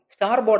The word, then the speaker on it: starboard: ബോർഡ് എന്ന് പറഞ്ഞുവന്നു നൂറ്റാണ്ടുകളിലൂടെ ഈ വാക്കിന്റെ ഉച്ചാരണം സ്റ്റിയർ ബോർഡ് എന്നതിൽ നിന്ന് മാറി സ്റ്റാർ ബോർഡ് എന്നായി മാറുകയും ചെയ്യും കപ്പലുകൾ കടലിലൂടെ തുഴഞ്ഞു പോയാൽ